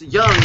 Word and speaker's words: Jung: you're talking about because his name is not pronounced the way it's spelled yes it's yeah it's young but Jung is how